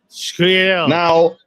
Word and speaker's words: sfogliatelle: Oh yeah, Sfogliatelle. Now, if you look at how it's spelled and try to sound it out that way, Sfogliatelle, you're gonna sound like a somebody.